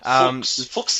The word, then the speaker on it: Fuchs: Be careful with that pronunciation. Fuchs, yeah. And German.